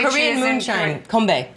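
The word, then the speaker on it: 건배: How do you say Korean cheers in moonshine, kombae. Konbae.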